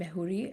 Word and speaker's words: Mejuri: And I also want to mention that while we're discussing this and I know you mentioned Mejuri as Is that the right way to say it? Mejuri, yeah.